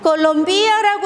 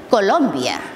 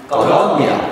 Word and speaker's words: Colombia: 자, 그런데 콜롬비아 할 때 강세가 중요해요. 그 나라의 이름이기 때문에 그냥 콜롬비아라고 하면은 뭔가 이상하다고 할 수 있습니다. 아, 외국인이니까. 자, 그런데 정확한 발음은 콜롬비아. 콜롬비아.